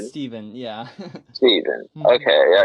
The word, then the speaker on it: Stephen: Is it Steven or It's Stefan? Steven, yeah. Steven. Mhm. Okay, yeah. Because I know when people spell it like that, they pronounce it Stefan.